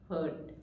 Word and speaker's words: hurt: don't hurt me okay so it's Hur hurt don't hurt me and this is heart